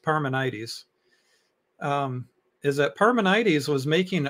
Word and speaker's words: Parmenides: My understanding is what you're reading of, and I've always heard it pronounced Parmenides, is that Parmenides was making an argument against the existence of God.